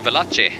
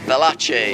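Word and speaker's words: Veloce: It's a Velace. Velace. I love Italian cars in bik. And this is a Velace.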